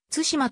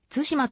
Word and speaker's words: 津島: が築かれた共通語では対馬と発音されるが地元では対馬と発音されている nhk では前者